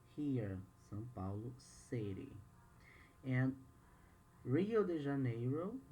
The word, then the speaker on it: Rio de Janeiro: sao paulo city and rio de janeiro in portuguese hill de janeiro i'm gonna say in portuguese to for you to know the the pronunciation we have the state